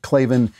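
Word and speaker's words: Klavan: the parts available for your car truck right clavin in there how did your in there how did you hear about us box so they know we sent you also write clavin in there how do you spell clavenbach so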